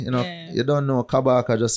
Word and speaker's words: Kabaka: guy everything IG you know you don't know kabaka just spell it right it's not kibaki yeah wow definitely wow all right people get